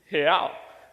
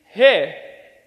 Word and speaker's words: real: See, in Portuguese, the way that you say real is real. So let me teach you how to say it. So on the count of 3, let's say he. So it's he, but without the e sound. So 1, 2, 3, he.